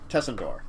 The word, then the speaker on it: Tsandor: This, Tsandor, if I'm saying it right. Tessendor. Tessendor, yeah.